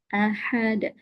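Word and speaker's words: أَحَدٌ: Ahad. Nah, perhatikan di haknya bagi yang belum dapat dan juga qalqalahnya ahad. Ahad.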